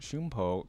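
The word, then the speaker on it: Shunpo: that one by Shakespeare Sean Poe or pronounced shumpo comes from sino-japanese blink step oh okay interesting so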